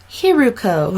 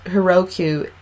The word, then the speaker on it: Hiruko: do you pronounce that it's Haruko okay yeah and I think I'm I apologize I think I pronounced it wrong on my facebook live earlier trying to get people in here but yes yeah I I you know switch the you know backwards Heroku and right after I